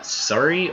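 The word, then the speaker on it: Sorey: Okay, and how do you pronounce Sori's name? Like that? Sori? Or is it Sari?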